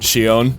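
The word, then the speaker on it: Xion: to say her name i don't know why they say it shion there's not an s or an h anywhere in there but she's also a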